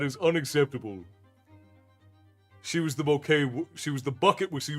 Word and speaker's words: Bucket: So, it's it's a running joke in the show that it's spelled bucket, but they pronounce it bouquet.